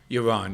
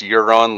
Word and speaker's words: Yaron: with euron brooke am i saying that right iran yes okay um i i have to ask do you get people saying it's pronounced euron like greyjoy and that's a first that is